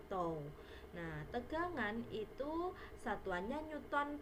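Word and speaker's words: τ: Simbolnya seperti ini, bacanya tau.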